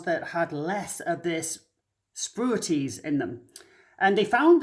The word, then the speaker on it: spruitjes: to read this spruities s p r u i t j e s spruities is how you say that uh anyway that was